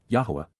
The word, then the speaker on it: Yahowah: astonishing awesomeness of yah yahwah the proper pronunciation of the name of eloah God as directed in his Torah teaching regarding his high existence